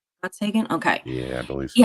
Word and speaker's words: Gottsagen: Zach Gotson, I think it's Gotskin, pronounced Gottsagen. Gottsagen.